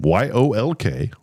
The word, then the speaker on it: yolk: YOLK. Is it yolk or yolk? I like to say, was I saying yolk? Yeah. Yes. The L is silent.